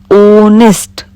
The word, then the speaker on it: honest: H, here H is silent and we can speak like this, honest.